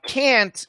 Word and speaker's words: can't: there's a video uh can't in daily english you listen to americans speak almost always sounds like can and can